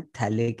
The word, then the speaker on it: phthalic: अब थैलिक acid बोलते हैं, PH उसमें PHTHALIC, थैलिक एसिड।